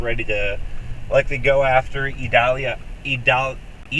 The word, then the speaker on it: Idalia: to likely go after idalia three syllables tomorrow um I'm probably